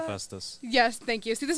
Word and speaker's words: Hephaestus: I'm probably going to pronounce this one wrong. Hepatitis, I think is how you pronounce that. Hephaestus.